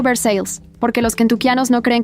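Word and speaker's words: Versailles: Walter Grieves vivía en Versalles, Kentucky, pronunciado Versales, porque los quentianos no creen que los franceses deban tener la última palabra sobre nada.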